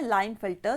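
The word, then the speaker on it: Klinefelter: हमारा NAAC syndrome है लाइन फाइटर syndrome और अच्छा ठीक है के साइलेंट रहेगा इसमें नाव हमने बोला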